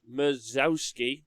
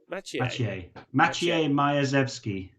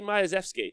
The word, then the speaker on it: Majewski: Next up, you got Mazowski. I'm so sorry. Mike Wazowski's playing. And I apologise for not being able to say your name, but if you do message me and let me know how to say it, I'm obviously... Oh, Majewski.